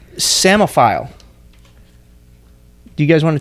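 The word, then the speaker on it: psammophile: you're going to try to say it it's semaphile do you guys want to attempt to spell that no I don't embarrass myself nope okay no it's actually p-s-a-m-e-m-m-o get that samaphile shouldn't be spelled that way what does it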